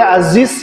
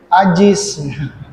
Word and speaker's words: Aziz: Atau bahkan apa namanya, misalkan apa ya, tazkiyah, ya, kadang bacanya tazkiyah, ya. Atau bahkan kalau misalkan yang kurang ini Aziz, ya, Aziz, namanya Aziz, panggilannya Ajis.